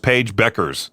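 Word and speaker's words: Paige Bueckers: I forgot how you say her name. Is it Paige? Oh, just Paige Beckers. That's how you say it.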